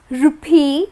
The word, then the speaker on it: rupee: We will start with the country, India and the currency that is used in India is rupee, that's how it is pronounced.